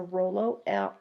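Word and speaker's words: rouleaux: Rolo as well except it's not spelled the same way it is a French term and you can see right here these are stacking on each other and that is a Rolo ro ll e aux so here again you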